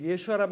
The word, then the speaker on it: 예슈아: 원래 히브리어 발음은 예수아입니다. 예수아. 오히려 우리말 발음이 더 가깝죠. 그리고 예수아란 말은 구원자라는 뜻입니다.